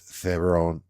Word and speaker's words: Theron: It's got Tom Holland, Anne Hathaway, Zendaya, Mia Goth, Charlize Theron.